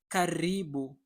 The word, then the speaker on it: karibu: Talking about stress in Swahili words, the stress is almost always falls on the second to last syllable.